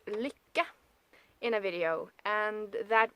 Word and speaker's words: Lykke: that log is up there and I also pronounced Lika in a video and that would be those knitting needles that everybody is calling likey and like ah that's not how you pronounce